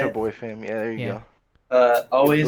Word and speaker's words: ChaboiFam: How you say ChaboiFam.